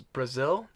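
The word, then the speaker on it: Brasil: the first one is Brazil mm-hmm which is pronounced exactly like the country but has nothing to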